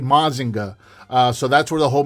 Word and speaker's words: Mazinger: However, all 3 of them are the representation of the same character, the Great Mazinger, or as it would be pronounced in Japan, the Great Mazinga.